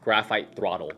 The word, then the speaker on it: Grpht Thrttl: And yes, that is exactly how it is spelled. Don't ask me why, but it is pronounced graphite throttle.